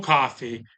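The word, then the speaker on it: Ko-fi: to need to join my Kofi or coffee because I the idea is you support creators by buy them a digital cup of coffee, but it's spelled Ko D- FI.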